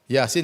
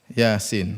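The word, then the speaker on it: يس: mim dibaca ha mim Yasin jangan dibaca Yas dibaca apa Yasin thha jangan dibaca thh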